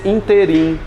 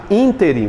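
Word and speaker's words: ínterim: Interim. Muita área jurídica quer pronunciar isso aqui nesse interim, fazendo uma paroxítona. Na verdade, interim. Você decora essa palavra que cai demais em prova.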